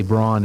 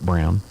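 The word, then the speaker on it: Braun: his wife eva brown we say brawn in this country but in germany they pronounce it brown and uh did he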